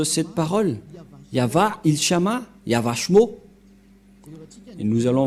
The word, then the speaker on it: Yahvah: de cette langue hébreu voilà donc le terme yava yava et on va voir comment on prononce cette parole yava ilshama yavashmo et nous allons voir s sens